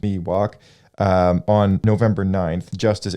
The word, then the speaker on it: Miwok: Northern California Indian tribe known as the Miwok pronounced Miwok um on November 9th Justice Andrew McCay dismissed